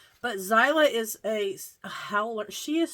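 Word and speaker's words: Xyla: I did a short this week, and the short was our son's dog, Zyla, which is spelled X-Y-L-A. But Zyla is a howler.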